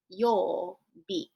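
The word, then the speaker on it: 曜日: It's pronounced yo. It's a long sound, yo.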